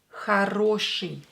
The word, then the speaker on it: хороший: And today's word is хороший. Хороший. Хороший. Хороший. Here you hear I after sha, right? Хороший. Хороший. But for some reason we write I.